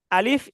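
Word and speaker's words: ألف: আলিফ এবং হামজা টান হবে না।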